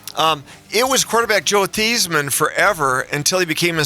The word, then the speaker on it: Theismann: it was quarterback Joe Theismann forever until he became a senior and then he changed the pronunciation of his name to Theismann as in Heisman.